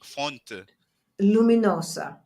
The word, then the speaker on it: Fonte Luminosa: big park that's f-o-n-t-e phones to fonte f-o-n-t-e fonte luminosa fonte luminosa luminosa so I guess lighted fountain